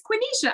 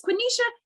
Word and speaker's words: Quenisha: say my name she was like it is quinisha i got it right chris told me to call you two and i was like no her name's quinisha and i'm gonna say and i'm gonna get